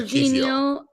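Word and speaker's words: Kiwior: Jacob Kiwiar. Sorry, I don't know how to pronounce his name. Kivior. Kivior. Kivior. Yeah, Kivior.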